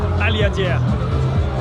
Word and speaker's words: Aliadière: Aliadière.